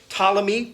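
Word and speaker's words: Ptolemy: you had the and it's spelled with a PT but we just pronounced the T the talic dynasty tmy was was the tmy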